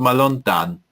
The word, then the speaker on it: מלון דן: So we may say Dan Hotel or Malon Dan in English, but we say it the Hebrew pronunciation, but Malon Dan.